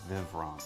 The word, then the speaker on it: Vivront: Well, us German Americans will say it Vivrant.